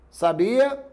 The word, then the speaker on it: sabia: Eu posso pronunciar sábia, sabia, sabiá. Veja, são os mesmos sons, são as mesmas letras.